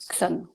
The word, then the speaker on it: Chzon: Mais du coup, comment tu le prononces, le nom de ta Xon. boîte? Xon.